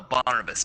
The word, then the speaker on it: Barnabas: and bar Barbra Duff's or whatever however you pronounce his vandals no Barnabas Barnabas yeah Barnabas and Barbados cuz there were